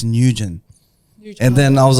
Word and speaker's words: Nguyen: So, but After your name, last name, NewGen, Nguyen.